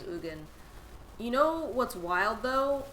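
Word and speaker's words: Ugin: So glad I'm one of the right people who will say his name right and not the one who says Eugene. Yeah, pretty sure his name's Ugan.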